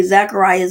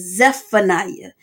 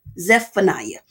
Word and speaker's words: Zephaniah: thing most people say zacharia zacharia but it's zephaniah you have the z EP in there zephaniah okay moving on to